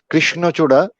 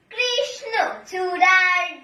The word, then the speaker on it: কৃষ্ণচূড়া: কৃষ্ণচূড়া এই উচ্চারণটি একটু সমস্যা হয়েছিল, কয়ের জায়গায় একটু চাপ পড়ে ক্ষয়ের দিকে চলে যেতে চেয়েছিল কৃষ্ণচূড়ার বিষয়টি। আর এমনি সবই ঠিক আছে, ভালো লেগেছে আবৃত্তিটা অনেক, এটা আমি 80 দিলাম।